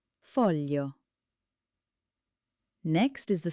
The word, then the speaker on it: foglio: Foglio.